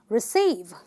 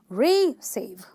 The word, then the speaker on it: receive: number two and you're gonna say receive I can't say receive that's wrong you'll say I need to receive I'm going to receive a gift okay so that's how you say it because it's a verb it talks about an action it's a two syllable word because it goes receive right so you say receive okay then we've got